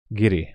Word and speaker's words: Giri: G as give, gift. But now you are my name as giraffe. Oh, I'm sorry. Give. Giri.